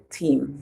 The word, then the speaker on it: team: So remember when E and A come together, we can hear E or E. So the A is silent. Team.